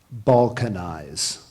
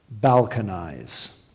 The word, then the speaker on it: balkanize: there any other pronunciations there is one other pronunciation balcon eyes language origin this word